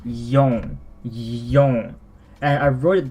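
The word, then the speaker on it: 四: So, this, for number 4, there's actually 2 pronunciations that are commonly used for it. One of them is, well, I just said, shi, but I think the more commonly used one is yon.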